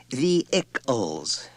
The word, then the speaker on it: vehicles: It's pronounced the ickles, Richard. No h accent on the first syllable.